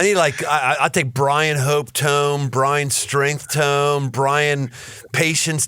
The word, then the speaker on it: Tome: I always have to say T-O-M-E, not tone. Tome rhymes with home.